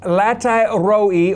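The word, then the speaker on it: לחי ראי: drew the water from in the Hebrew is pronounced latai roi, or the well of his presence. 那么这口井呢，在希伯来文的意思 latai roi 就是呢神同在的意思。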